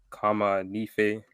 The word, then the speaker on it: Kama Nefe: We got a special guest in the founder and owner of USTDKA, Kama Nefe. Did I pronounce it right?